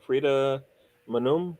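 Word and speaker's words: Frida Maanum: norwegian i believe right i think frida free frida manoom is how you say her name i think she's sweet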